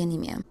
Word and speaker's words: anemia: This one's easy. It's actually spelled the same, but it's just pronounced differently.